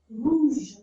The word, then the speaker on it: rouge: How to say red color in French is rouge. Rouge. Je sound. Rouge. Rouge. Sound like the English word measure.